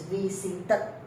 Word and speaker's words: visited: So here, yes, when you put ed to a T, then you need to pronounce. So it's visited. There is a sound, third sound.